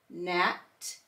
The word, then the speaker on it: gnat: The G is silent and we only hear the N, as in gnat, sign, and design.